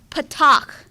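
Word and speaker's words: פַּתָּח: way next one is same sound a as in yacht so ah and the word is Patak go ahead and say that Patak so the way I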